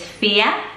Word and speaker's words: Fiadh: So the next one is Fiadh, but pronounced like this on the screen, F-I-A-D-H.